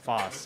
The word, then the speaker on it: Fosse: Fosse. Okay, the E is silent for some reason. It's French. The double S.